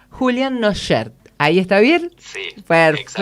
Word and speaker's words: Cnochaert: Muy bien, lo presentamos, bueno, Julián Nochaert, ¿no es cierto? ¿Así está bien dicho? Se pronuncia bien, es un poco difícil. Es difícil. La primera C es muda y la T del final también. Julián Nochaert, ¿ahí está bien?